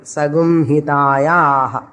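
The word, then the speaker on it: Saṃhitā: how to study, read, whenever Sha, Sha, Sa followed by you have to pronounce it as Gum. Sam, Sakara followed by அப்ப என்ன பண்ணணும் சகும்னு சொல்லணும் ஏன் அவ்வளவுதான் ஏன்னு கேட்காது that is a rule so follow the rule sagum hitayah based on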